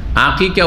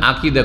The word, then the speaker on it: আকিকা: আমাদের সব অনেক মানুষ আকিকা উচ্চারণ করতে পারে না। ছেলের আকিকা করবো, ছেলের আকিদা করব, আকিকাকে কি করে দেয়? আকিদা।